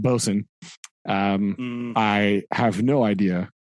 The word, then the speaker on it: boatswain: Uh they they they promote the bosen which is for reasons unknown to science spelled boats Wayne uh but pronounced bosen.